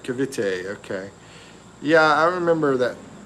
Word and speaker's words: Cavite: And Mike and Venus said, yes, you said it right, Cavite.